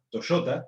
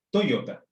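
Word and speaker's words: トヨタ: Y la compañía de autos no se llama Toyota, se llama Toyota.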